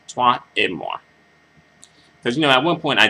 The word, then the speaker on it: toi et moi: And, just the FYI, it's not Toi et Moi, it's French, so you have to pronounce it, like the French, like French speakers do, Toi et Moi.